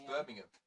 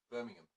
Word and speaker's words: Birmingham: It's Birmingham. You don't really pronounce the H. Birmingham.